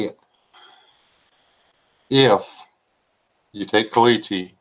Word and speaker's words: caliche: clay and silt there you you get Kelly Kelly Shay I almost did it that's part of a joke that's not how you say it if you take caliche like I said and grind it up get